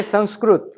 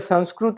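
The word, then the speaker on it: संस्कृत: if you know sanskrut now i say sanskruth the reason is the sanskrit language is the exact language because once you know the alphabet you can pronounce everything as exact and even if you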